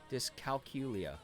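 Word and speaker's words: dyscalculia: The emphasis on the last syllables of discal discalculia the same as calculator. Discalculia is so just discalculia like that.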